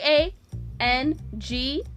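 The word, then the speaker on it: Aang: whole movie because a a a n g a a is pronounced a he's the main character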